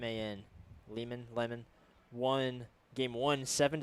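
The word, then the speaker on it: Lehman: Layman I think that's how you say it. L E H M- an Leman.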